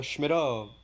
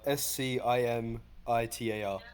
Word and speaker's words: scimitar: thing could I get a um it's a schmitter one-handed what uh I can't pronounce it it's a s-c-i-m-i-t-a-r oh Scimitar yes please that'll be all for